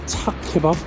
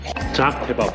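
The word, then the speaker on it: Çağ kebabı: Chak kebab? It's called Chak Kebab. I'm going to try this. Ah, the kebabs look unusual again. jaek kebab jaek (Pronunciation correction class for locals) Zach Kebab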